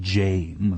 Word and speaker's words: Jame: years terribly battered everything Jame you know it's actually spelled that way on his birth certificate that's where he got it and you have to pronounce it Jame like name or he gets livid even